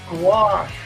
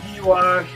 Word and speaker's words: gouache: what I was selling we pronounce this gache over here not gash or it's just gouache like gu gouache and I only pronounce it